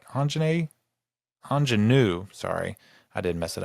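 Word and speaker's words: Aunjanue: um I'm GNA mess this lady's name up Anan Ellis Taylor I think I said it right Anan anenu sorry I did mess it up anenu Ellis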